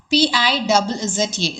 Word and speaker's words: pizza: The same way you have the word p i z z a, here what you have to assume is instead of one z, assume t.